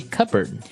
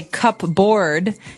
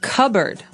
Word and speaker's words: cupboard: the silverware, we usually keep them in a cupboard. Okay. So, you might want to say cupboard because it's cup c u p b o a r d. That's not right. The word is pronounced cupboard.